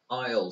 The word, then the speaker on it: aisle: اوکی aisle seat آره دقیقا داشته باشید تلفظش رو aisle هستش، ولی چی خونده میشه؟ aisle aisle نه aisle نه aisle aisle مثل I will که مخففش میکنیم میگیم aisle، خیلی شبیه اونه aisle آره خیلی شبیه aisle آره و حال